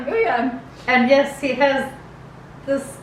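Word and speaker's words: Wooyoung: So the next member is Ooyoung. Isn't that how you say it? Yes, Ooyoung.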